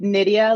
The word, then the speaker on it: Nydia: I'm like, Nydia rhymes with, sounds like Lydia.